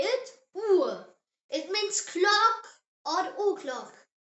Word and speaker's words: Uhr: And U pronounced as U like the U in the English word moon. Example word is Uhr. Say it. Uhr.